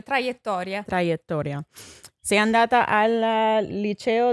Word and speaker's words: traiettoria: How do you say trajectory? Trajectoria? Sì, la traiettoria.